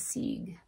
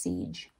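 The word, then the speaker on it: Sige: read about this goddess seed siege sorry it's pronounced siege then the gnostic goddess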